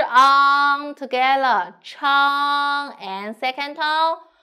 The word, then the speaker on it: 长: 长, 长, 吃, 刘友彤, 吃, on, open your mouth and go back on, good, 吃 on together, 长, and second tone, 长, 长, good, now let's